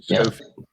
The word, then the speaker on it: Schofield: Schofield, but it's Schofield. Okay. Yeah. Sorry about that. Easy mistake. Never know to pronounce the C or not.